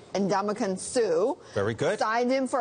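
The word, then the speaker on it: Ndamukong Suh: and I'm going to get this guy's name pronounced correctly correctly Andaman Su very good signed him for $114 million contract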